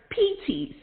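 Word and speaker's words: πίστις: the word faith is the word pts it's spells p-i-s-t-i-s and it's pronounced pt's that is the lord's in birth persuasion faith is the lord's in birth persuasion for a believer peace tease is always a gift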